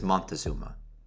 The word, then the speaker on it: Montezuma: to repeat, rendering it as Moctezuma and known to us in English as Montezuma. Like any great lie repeated often enough, it has come to embody a relative truth, and so any of these pronunciations are today acceptable.